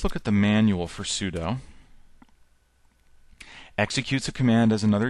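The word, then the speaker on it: sudo: uh and it's it's people pronounce it pseudo but it stands for super user do and then you give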